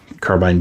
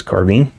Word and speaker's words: carbine: to a mosin carbine carbine being a correct pronunciation of the word carbine as is carbine they're both correct and